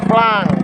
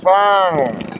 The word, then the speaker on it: flung: Untuk bentuk duanya ditulis flung, diucapkan flang. Jadi beda antara tulisan dan pengucapan untuk bentuk dua. Begitu juga bentuk tiga, ditulis flung, dibaca flang.